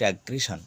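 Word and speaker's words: aggression: দেখি এগ্রেস এক্ষেত্রেও তাই এক্ষেত্রে ডবল এস এর পরে আই ও এন তাই উচ্চারণ হবে তালুস এগ্রেশন অর্থাৎ আক্রমণ পেনশন দেখো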